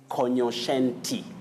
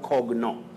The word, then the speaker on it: cognoscente: street or in the street is cognoscente. Cognoscente. What? It's not cogno. That G and N takes the sounding just like in the word cognac. Cogno, not cogno. It's cognoscente.